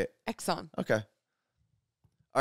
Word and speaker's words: Exxon: a moment what Exxon you just said eggs on eggs on like eggs no Exxon okay how do you say it Exxon okay all right who